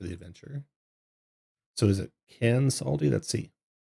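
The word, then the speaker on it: Kansaldi: And in chapter 2, there is a pronunciation guide for the adventure. So is it Cansaldi? Let's see. Cansaldi Fire Eyes, yeah.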